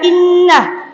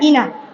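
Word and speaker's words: إِنَّ: Terutama pada kalimat inna. Di situ Bapak, Ibu dibaca inna bukan inna. Dibaca dengung selama dua harakat.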